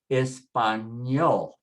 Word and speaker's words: español: Ending with a consonant, so just put the stress on the last syllable. Everything is on the last syllable now. Usted, español, español, and ñe, so you say ñol, español.